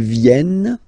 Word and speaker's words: viennent: Ils viennent, elles viennent. Ils viennent, elles viennent. Alright? E-N-T, you don't pronounce them.